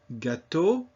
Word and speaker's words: gâteau: E-A-U. Always pronounced O. The word E-A-U, O, means water. Gâteau, cake.